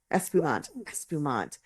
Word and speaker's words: espumante: Espumante. I keep wanting to make that extra syllable on the end. Right. Because that's what you would do in Spanish, but it's Espumante.